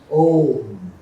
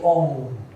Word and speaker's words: Om: So the usual pronunciation should be with closing the lips. Om. Обичайното произношение с затваряне на устните, както го чухте току-що. But the Bengalis will say Om.